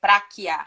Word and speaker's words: Pracchia: O CC no italiano tem o som do que o E. Então é Prachia.